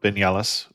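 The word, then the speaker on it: Viñales: So we're talking about the Vignalis and the Vignalis Valley or Vignal is spelled with a V even though it's not pronounced that way.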